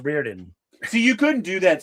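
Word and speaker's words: Rhuidean: I heard it's pronounced Reardon.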